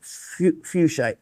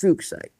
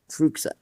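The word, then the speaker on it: fuchsite: A lot of people used to pronounce it fuchite just because well, even that one you had to be careful with it sound, but that's not his name.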